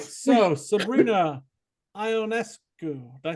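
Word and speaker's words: Ionescu: caught it I'm quiet all right so Sabrina ionesco did I say it right you got it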